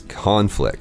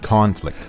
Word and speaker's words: conflict: about this word is as a noun as we're using it today of course the pronunciation is conflict conflict but if it is